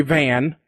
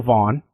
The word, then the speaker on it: Vaughan: And he said Stevie Ray Van because he didn't know Vaughan, how to pronounce Vaughan correctly.